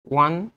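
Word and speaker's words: one: আচ্ছা, ও এর উচ্চারণ কি ওর মতো হয়েছে? এখানে ওয়া হয়ে গেছে না? ওয়ান eyed man, right?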